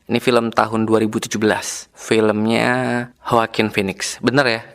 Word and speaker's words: Joaquin: Filmnya Joaquin Phoenix. Bener ya? Jadi bacanya H ya? Atau Joaquin Phoenix.